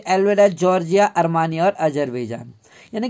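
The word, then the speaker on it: Tsar: इन 1914 में jar Nicholas, यानी अब यहाँ पर जार क्यों है, टी साइलेंट होता है, जार इसलिए है क्योंकि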